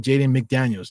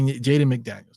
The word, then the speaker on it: Jaden McDaniels: know that I I appreciate you uh jayen jayen McDaniels Jaden MCD yes so I do have it